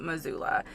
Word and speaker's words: Missoula: and by the way it's spelled with two s's i feel like it's missoula but the locals call it missoula so we're headed to